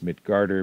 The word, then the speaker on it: Midgard: the words also so midgard is mid garter mjolnir is still mjolnir uh yerman gunder is jorman gunder uh asgard is asgarder um these are just the correct old north norse pronunciation so our book actually begins